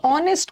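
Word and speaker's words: honest: दिया ऑनेस्ट मैन तो ऑनेस्ट को इसको ऑनेस्ट थोड़ी बोलोगे ऑनेस्ट नहीं बोलोगे इसका एच साइलेंट है ओ से प्रोनंसिएशन शुरू होगा एन ऑनेस्ट उसी तरह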